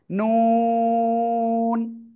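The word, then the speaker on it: ن: জিহ্বার আগা তার বরাবর উপরে তালুর সাথে লাগিয়ে দুই ঠোঁট হালকা গোল করে আমরা চার আলিফ টেনে উচ্চারণ করব। নুন, নুন, নুন।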